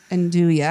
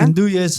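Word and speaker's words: 'nduja: It's the Anduya. Endua. Endua.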